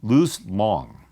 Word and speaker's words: Luz Long: Jesse Owens, and I believe his name is pronounced Luz Long, L-U-Z. In German, I don't know exactly how you would pronounce it.